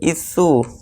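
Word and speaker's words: issue: जब किसी वर्ड के लास्ट में इ यू ई आए तो यू ई का उच्चारण यू से फिर से होगा। यानी लॉन्ग यू होता है।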